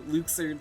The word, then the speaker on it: Luxord: luxord from cage to luxord sorry that's how his name is pronounced now apparently killing orbs on ships